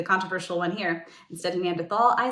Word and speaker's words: Neanderthal: I will very briefly touch on Neanderthals. See, here I am being the controversial one here. Instead of Neanderthal, I say Neanderthal. It's the German pronunciation.